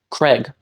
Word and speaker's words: Craig: subtle difference is because it's a minimal pair every other sound in the word is pronounced the same you have C followed by R followed by a vowel followed by G that is the same in both pronunciations the only difference is that one vowel in the middle by saying it is